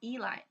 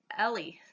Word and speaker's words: Ellie: Carl and Eli, or Ellie, or no, Eli. Ellie. Blah. No, it's Carl and Ellie. There we go. I'm sorry. It's just her name looks like Eli, but you know it's not Eli because Eli is a boy's name.